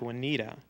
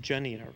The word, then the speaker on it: Juanita: And your name is actually spelled like Juanita, but it's actually pronounced Janita, correct?